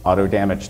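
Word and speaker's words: AutoDMG: recommend using per Olson's Auto damage tool I'd also like to note that auto damage is how PA himself is indicated he wants it to be pronounced I myself have nothing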